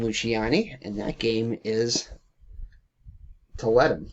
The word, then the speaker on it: Tiletum: and that game is Toletum, or however you want to pronounce it, Tiletum, or Toletum. I pronounce it Toletum.